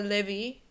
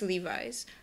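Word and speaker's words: Levi's: really well uh but it's not a levy or Levy stra or it's just Levis number 21 for all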